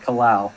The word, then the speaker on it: Kalao: Kalao is my understanding of how it's pronounced.